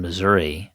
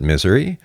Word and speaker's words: Missouri: in Missouri Mount Vernon Missouri you know some people like to pronounce it Missouri or Missour um I usually pronounce it Misouri um you know for